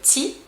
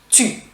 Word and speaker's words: tu: We will pronounce it "tu". "tu", not "t'y", we'll say "tu".